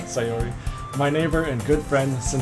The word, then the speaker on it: Sayori: Yeah, Sayori. Sayori.